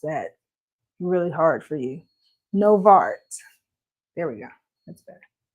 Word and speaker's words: Nova Art: No, I said I definitely pronounced that really hard for you. Novart.